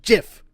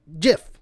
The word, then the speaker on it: GIF: read the whole thing he goes PS it's pronounced gif not Jeff no no no no it is jiff the guy who made listen the guy who